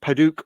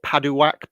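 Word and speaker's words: padauk: um so that's a nice fiery orange of padouk or paduwack p-a-d-a-u-k is the way it's spelt uh i've done a video on that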